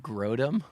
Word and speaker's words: Grodum: I had a rough name of Grodum, like a Grode bike. A but Grode bike. rhyming with scrotum.